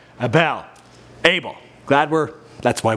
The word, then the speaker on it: Abel: also last time I think I said his name wrong Abel Abel glad we're that's why we do updates